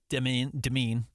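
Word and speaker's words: Demin: You're talking about Demeen. I know there's 50 different ways people have said it. I believe it's Yegor Demeen is everything I've actually heard, how he pronounces it.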